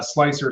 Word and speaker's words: Slic3r: of those others like slicer spelled with the three or slic3r as thomas and liner